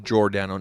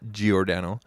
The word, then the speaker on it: Giordano: mark giordano um and it is pronounced jordano not giordano uh you guys are